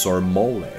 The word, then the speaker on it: Sir Moly: Everyone in the New Eden Star Cluster would one day know the name of Sir Moly, pronounced Sir Mole.